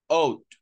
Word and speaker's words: ought: This one, ought. Ought. La G is silent. You don't say ought. No. Okay? That's the pronunciation.